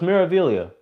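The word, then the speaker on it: Meraviglia: 300 thank you guys the g is silent so it's miravillia thank you i've been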